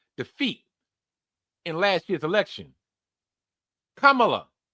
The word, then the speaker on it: Kamala: Kamala or as some people would pronounce it, Camala.